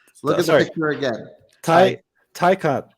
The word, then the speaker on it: Taycan: Taycan, same vowel pronunciations, different, consonants around.